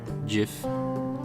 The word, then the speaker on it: GIF: Oh, just pronounce it J like the peanut butter. GIF.